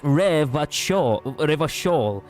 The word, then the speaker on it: Revachol: Revatol is pronounced Revachol.